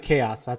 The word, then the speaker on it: XAOC: I pronounce it Chaos. That's how I was told how to spell it. I mean, the XAOC, right?